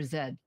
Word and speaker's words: Z: say It's A to Z do you pronounce it Z or Zed I say you say